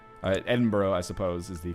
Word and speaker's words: Edinburgh: time goes on all right so we've sieged Edenberg uh Edinburgh I suppose is the correct pronunciation there we're going to enforce our demands